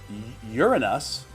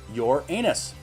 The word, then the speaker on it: Uranus: well to dirty jokes it can be pronounced uranus or your anus both of which open